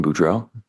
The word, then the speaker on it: Boudreaux: Can you state your name and spell it for the record? My name is Brandon Boudreau.